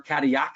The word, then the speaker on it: Cadillac: maybe not, but certainly the name Cadillac, or Cadillac as it is pronounced in French, would be something you would know.